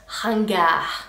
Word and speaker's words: ringard: The next word means old-fashioned and it's pronounced ringard.